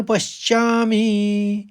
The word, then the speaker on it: पश्यामि: सीधे-सीधे पढ़ लीजिए उनको। पश और श्यामि। तो आप आघात समझ रहे हैं। तो निमित्तानी तो सीधे-सीधे हैं। दो त है तो निमित्त और फिर तानी। निमितानी च पश्यामि दूसरे चरण को देखिए